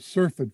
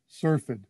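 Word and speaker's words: syrphid: you is because this particular group are called surfeit flies and you spell that s-y-r-p-h-i-d surfed fly they're also called flower flies or even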